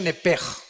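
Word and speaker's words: נפש: Digo, por favor, esta palabra alma en el original hebreo es la palabra nepesh. Apúntala, como suena nepesh, con SH. Se pronuncia nepej.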